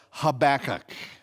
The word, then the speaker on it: Habakkuk: three here we go habakkuk yeah if you say it correctly it sounds like you just coughed up a furball okay so habakkuk is